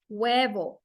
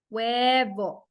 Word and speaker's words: huevo: In this case, we have the word huevo. Huevo. Huevo. The rule for the Spanish H is that it's always silent.